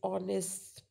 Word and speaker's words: honest: When the H is silent, because H is not used in these words, so that is O becomes a vowel sound.